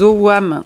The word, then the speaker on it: ogam: Et alors, c'est marrant parce que je vois tout de suite, là, il y a des owam, tu sais, ça s'écrit ogam, on dit des owam, c'est des lettres, des